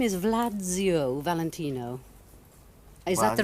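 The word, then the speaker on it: Władziu: say Gesundheit, you know, because it sounded like I was sneezing.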